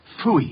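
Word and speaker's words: Pfui: It can be spelled in several ways. I spell it P-F-U-I. Phooey.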